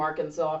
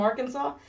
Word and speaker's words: Arkansas: And if you'll remember from ages ago you'll remember that Arkansas really doesn't like being pronounced the same way as Kansas, so maybe there's a